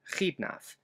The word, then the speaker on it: Xidnaf: The letter X will be representing the cha sound, just like in my YouTube pseudonym, Khidnaf.